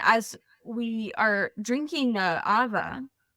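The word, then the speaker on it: ʻawa: first little like personal Awa ceremony with my friends. So I'm sitting there, and as we are drinking the Awa, it's spelled AWA. The W is pronounced a V here in Hawaii.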